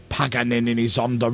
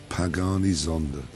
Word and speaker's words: Pagani Zonda: Pagani Zonda. I said the Pagani Zonda. You said Paganini.